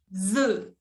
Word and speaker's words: œufs: En français, cuando hay uno solo, on dit un œuf. Y cuando hay más de uno, on dit des œufs. Des œufs. Se pronuncia diferente. ¿Ok? Un œuf, des œufs.